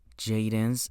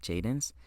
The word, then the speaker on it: Jaydence: Uh, my name is Jadens. It's actually how you pronounce it. Jadens.